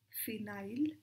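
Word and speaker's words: phenyl: एफ से ना फ याद रखना है फ फ की साउंड तो पीएच भी देता है ठीक है तो फिनाइल एना क्या प्रोनाउंस करेंगे हम इसे फिनाइल फिर एलेनाइन ठीक है आई से आ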